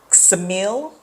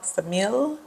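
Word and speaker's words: Ksamil: Ted four cities um samil I don't think you pronounced the K it's k s m i l samil I think y'all correct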